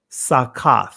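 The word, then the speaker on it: סוכות: And this is the ancient Hebrew pronunciation of Feast of Tabernacles. Chag Sakath. Let me say that again. Chag or Chaga Sakath, right? Many would say Sukkoth.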